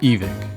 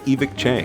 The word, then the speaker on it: Evike: Uh, before I worked for the company, I said Evike. Evike. Evik. Evike. Evike. Evict. Evict. Evike. Evik. Evike. Evik.